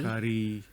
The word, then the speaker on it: Kari: No, it's spelled like how we spell curry. Oh, okay. Carrie. Kari. Kari Laksa. Like Carly, but only with a K and no L.